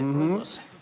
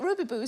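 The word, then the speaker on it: Rooibos: Robos oh the South African tea isn't it Robos I'm so glad that you said I didn't know how to pronounce that I've been calling it Ruby Boo for years I was 33 still ordering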